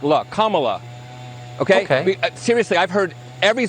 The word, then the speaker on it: Kamala: um hosts on Fox her name is pronounced comma like the punctuation mark La Kamala okay seriously I've heard